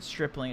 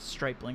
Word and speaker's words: Stripling: options pretty cheap too stripling i think that's how you pronounce it strippling it's not stripping it's stripping from the dodgers yes a lot